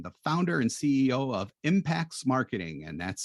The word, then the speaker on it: Impaxs: is Alex Sheridan the founder and CEO of impacts marketing and that's spelled IMA XS so Alex and his crack